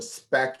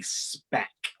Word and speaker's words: SPAC: form of ipo that's called a spec and spack is spelled s p a s p a c um spec s p a c